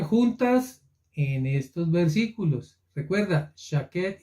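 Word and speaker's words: שקד: Las palabras almendro, mira qué interesante, y apresurarse se pronuncian igual en hebreo. ¿Qué tiene que ver almendro con apresurarse? Pues en español nada, no suenan ni parecido ni significan lo mismo, pero en hebreo almendro se lee shaket y en apresurarse se lee shakat.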